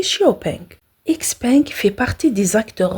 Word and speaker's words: XPeng: son fondateur hiaopeng d'ailleurs en Chine la marque est prononcée Xiaopeng xpeng fait partie des